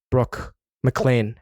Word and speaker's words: Brooke Maclean: Brooke Maclean, everyone. Peace. Peace. Did I pronounce that right?